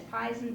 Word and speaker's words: poison: There used to be, in Queen Elizabeth's day, that if a word had an O-I in it, almost everybody pronounced it like in a long I. Honey, that's pison, don't touch it.